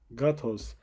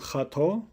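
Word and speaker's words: gâteau: Lê ji ber ku peyv ev peyv ji Fransî derbasî Hollandî bûne ew peyvan xira nakin bi piranî wekî wan bilêv dikin. Nabêjin xato dibêjin gato.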